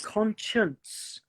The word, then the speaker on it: conscience: words conscious and conscience so they're really close but you have the n in the conscience so I was teaching in my last life it was actually about pronunciation and to get the n Sound con because conscious conscious the tongue is working but it's not against the top of the roof of the mouth whereas in the N